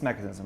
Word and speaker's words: Mekanism: Jason Harris here founder of mechanism uh I pronounced that right that's mechanism right yeah co-founder co-founder of mechanism I'll take